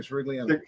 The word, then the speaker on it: Sirigliano: How do you pronounce that? I don't want to. No, it's Sirigliano. That's my last name. Sirigliano. Sirigliano.